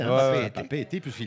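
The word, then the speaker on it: Papeete: Mais comment tu prononces Papé était. Papé-Été, hein, Ouais, ouais. Papé-Été, puisqu'il y a Bon, deux là-bas, œufs.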